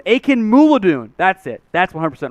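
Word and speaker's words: Akinmoladun: defensive lineman freedom aiken mutilate well i got pronunciation akin moo ladoon aiken moulidoon that's it that's 100 right i know that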